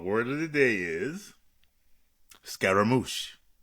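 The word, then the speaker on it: scaramouche: The black log word of the day is scaramoosh. Scaramoosh spelled s c a ar a r a m o u c h e.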